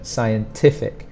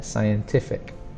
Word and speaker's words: scientific: So scientific, scientific. The stronger sound is on the T there, scientific.